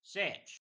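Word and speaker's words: seh: Instead of far, the characters would often say fur, and such would be spelled S-E-H and then be pronounced as sedge.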